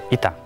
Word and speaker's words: eta: Ita. Es ita o eta. Se admiten las dos, que es la séptima letra del alfabeto griego. Se pronuncia como una i, y es el origen de la h latina.